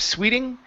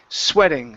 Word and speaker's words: sweating: like her okay um this word here is sweating instead of Sweeting sweating sweating hot sweating hot good one more time